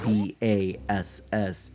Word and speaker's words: Bass: it's musically themed so the character with the name that is spelled b a s is in fact Bas uh meant to be you know a like bass in a in a song the instrument the you